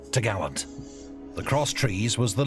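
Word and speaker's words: topgallant: Then the cross trees, which secured the top gallant mast, pronounced t'gallant.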